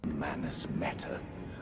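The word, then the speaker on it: Manus Metyr: How do you pronounce the name of this place? Manus Meta.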